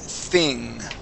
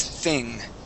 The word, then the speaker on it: thing: So we're gonna practice the word thing. Okay, we're practicing the TH sound. Okay, the word is thing. Okay, think. Okay, so when we pronounce the TH, okay, we stick our tongue between our teeth.